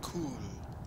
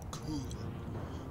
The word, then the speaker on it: Kul: it is called ascend hand of cool k-u-l cool one of the cool kids should spell it like that but this is